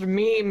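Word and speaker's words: Meem: First here is Mem, M-E-E-M. And Pronounced meme, get it right.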